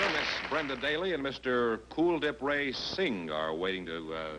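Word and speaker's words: Kuldip: Is that the way you pronounce it? Cool Dip? Yes, it is like the word cool. Yeah, well, I had that this morning in my swimming pool.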